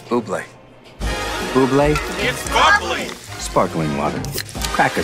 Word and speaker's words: Bublé: that's a bubbly she's right michael buble it's pronounced boobly i know thanks davey can i have your autograph mr bubbly it's boobly buble sparkling water crack a smile michael don't